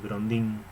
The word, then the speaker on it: Grondin: Así se pronuncia el Grondin.